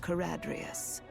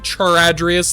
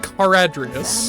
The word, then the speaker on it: Caradrius: by the name of Caradrius. Caradrius. I was saying Charadrius the entire time. That's the name of his ship. I'm really embarrassed now. I've been pronouncing that wrong this entire time. Caradrius.